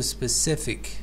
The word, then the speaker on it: specific: And also specific, stress is on the specific, the third syllable.